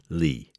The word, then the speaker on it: Le: With the insistence that her surname be pronounced by its Chinese foundation, Lee.